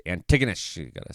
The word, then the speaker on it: Antigonish: about like uh at Antigonish apparently that's how you say it tracky Antigonish it's not Antigonish everybody was been wondering